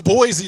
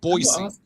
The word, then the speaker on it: Boise: It's a soft S. It's not a Z. Do you see a Z in there?